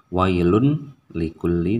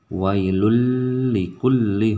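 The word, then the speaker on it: ويل لكل: jadi lulur bacanya yang jadi tidak wailun likulli tetapi wailul likulli humazatil lumazah ya wi disini adalah huruf lain Jadi tidak dibaca Kyle tapi langsung wailul seperti itu yang tidak ada oleh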